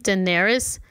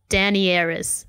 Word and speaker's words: Daenerys: about Game of Thrones pronouncing Daenerys Danny Aerys and I'm like get your uneducated butt off of the internet and out of my life just cuz Danny is her nickname right but like yeah just